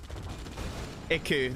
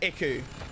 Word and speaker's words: Ico: Christox, Iku. That's what. Yeah, Iku. I remember Ico once told me how to pronounce his name. It sounded something like Iku.